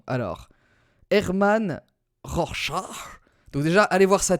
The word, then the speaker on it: Rorschach: Alors effectivement, c'est plutôt une prononciation allemande qui propose. Alors, écoutons bien, tous ensemble. Rorschach. Ok, il propose une autre prononciation. Rorschach. Rorschach. Bon bah ils disent tous Rorschach, hein. Alors bon bah écoutez, ça doit être ça, hein. D'après les prononciateurs allemands, voilà, c'est Rorschach du coup.